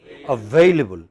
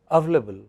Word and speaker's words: available: How should it be pronounced? Available. But a lot of people pronounce it only as available.